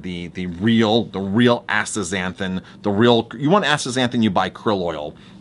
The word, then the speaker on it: astaxanthin: It's totally eating a totally different astaxanthin. Astaxanthin is how you pronounce that.